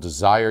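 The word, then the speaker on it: DSIRE: to check out it's called desire USA that's spelled DSi e USA it's funded by the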